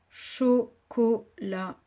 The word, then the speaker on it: chocolat: Chocolat. Aucune difficulté dans les deux premières syllabes et dans la troisième, attention au T muet.